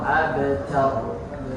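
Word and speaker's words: أَبْتَرُ: Nah, di sini itu ternyata harus dibaca tebal semua. Kautsar, wanhar, abtar.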